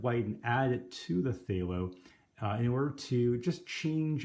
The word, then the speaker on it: phthalo: phthalo blue today and despite the spelling the pronunciation is phthalo and it's a great